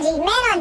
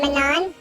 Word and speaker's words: Manon: But Manon technology, that's us. That's how it's supposed to be pronounced. Please stop saying Manon. It's wrong. You're wrong.